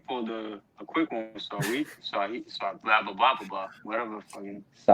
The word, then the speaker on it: Saweetie: It's just so it's Sweetie, but with an A. Saweetie. Saweetie.